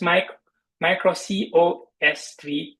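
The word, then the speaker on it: µC/OS-III: Pronounced as Micro COS3, it's the third generation kernel from the Silicon Labs.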